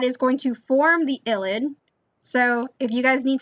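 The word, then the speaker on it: ylide: part of the illid rosemary has finally taught me how to say it i always called it an ielts i don't know why but it's like an illid so when you see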